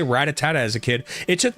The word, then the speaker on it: Rattata: I was an adult before I realized that's pronounced Ratata, not Ratata.